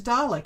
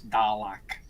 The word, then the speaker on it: Dalek: Yeah, and I think he had to coach us on how to properly pronounce Dalek. Dalek? Dalek. Dalek. Yeah. It's not Dalek.